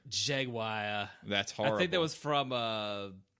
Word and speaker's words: Jaguar: no it's it's um it's like a Latin pronunciation yeo-hwa yeo-hwa yeo-hwa wakka